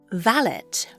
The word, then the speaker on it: valet: Valet, pronounced with a hard T in England, comes from the Old French for a young man.